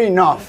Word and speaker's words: enough: Se pronuncia you're enough. You're enough. Enough. Enough, weather. Como si fuera I-N-O-F.